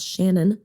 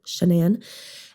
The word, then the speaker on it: Shanann: Wife's name is Shanann, not Shannon, Shanann.